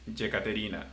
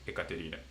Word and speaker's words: Yekaterina: So it's like, for example, in Spain, probably people will call you Ekaterine when it's Yekaterina. There is a difference. So in Latin America, people will call you as Yekaterina. Okay, cool, because that's the right pronunciation. But in Spain, they will go Ekaterina.